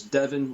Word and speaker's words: Deven: It's Devin Roberts Music and my name is spelled D E Ven. So it's Devon like7 Roberts music and on X you can find me at Devon Roberts 95.